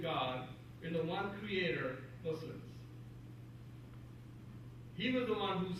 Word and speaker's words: Muslim: all right this okay now you hear in the uh newscast uh radio as well uh people using the word maslo it's not uncommon and